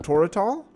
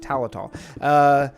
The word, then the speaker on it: Talatal: I think what they could be is they could be more ruins of Toratal. Talatal, I mean, Toratal, Talatal. That's how you say it, Talatal.